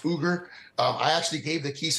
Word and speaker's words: Uyghur: Well, it is pronounced Uyghur. It does begin with a U, but it's pronounced Uyghur.